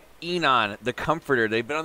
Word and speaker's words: Aenon: so today we're doing enon i think it's how you pronounce it somebody told me that when you have the a and the e combined just called e enon the comforter they've been